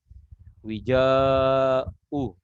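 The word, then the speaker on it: وِجَاءٌ: Ya, ya, lihat kita baca apa, bikasril wawi wal jim wal maddi, dibaca dengan kasrah waw, lalu dibaca dengan jim dan dibaca dengan panjang. Wija'u gitu. Fa innahu lahu wija'u, bacanya pakai mad.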